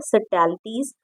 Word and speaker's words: subtleties: Okay, in addition to 5 books of poetry, she is a sensitive writer who captures the complex subtleties, इसमें B silent रहेगा। ठीक है, सटैलिटीज of human relationship in lyrical idiom my mother eight 66।